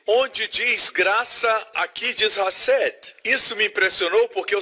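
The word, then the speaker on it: חסד: Tem que pronunciar com som gutural. Hased.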